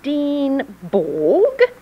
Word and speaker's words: Swedenborg: Your name is Swedenborg? Or you're an alien too? It's pronounced Swedenborg in Swedish.